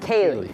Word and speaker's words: Ceilidh: didn't know how to pronounce that word. I know, I've Ceilidh. seen it. Ceilidh. Ceilidh.